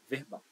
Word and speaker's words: verbal: verbal certo então verbal esse sufixo au sempre gera o mesmo padrão prosódico ele gera uma palavra que é oxítona Então olha só que interessante a palavra verbo é paroxítona a sílaba tônica dela é ver de verbo certo quando você adiciona esse sufixo a vira verbal que é uma palavra oxítona então a classificação dessa